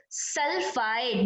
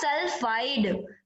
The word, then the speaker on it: sulfide: So must remember this, it's not sulfite, it's not sulfate, it's not oxide, it's a sulfide with the D. Pronunciation with the D, not T.